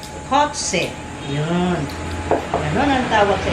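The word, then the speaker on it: cozze: in Italian is kotse parang kotse na k No but no kotse c o z e c o z e cotse yon ganon ang tawag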